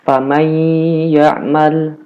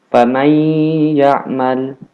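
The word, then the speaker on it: فمن يعمل: Nah, famay ya'mal. Nah, ini nunnya nggak dibaca.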